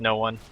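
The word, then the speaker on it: Noone: everyone talking about how his name is supposedly noon but it's obviously just it's just no one that's how they say it at least the Vega guy said oh yeah that reminds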